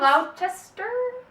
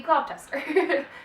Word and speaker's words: Gloucester: They are both sons of a man named Did we ever decide how his name is pronounced? Gloucester. For purposes of this video, it'll be Gloucester. Read it as you will, but we're going to call him Gloucester.